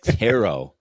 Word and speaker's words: tarot: it's a language a tet card ter teret it's not a tet card ding-dong it's tarot it's a tarot card teret Tarot the t is silent no it's not it's